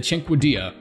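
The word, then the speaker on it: Cinquedea: a weapon absolutely no one uses is the Cinque Dia nope I you that's how it's pronounced I actually looked it up this time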